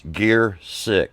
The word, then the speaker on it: Giercyk: Back with the drummer at large, Giercyk, and how you pronounce that. And I actually learned this from John Hoyt. It's Giercyk, and you got a story to tell about that later.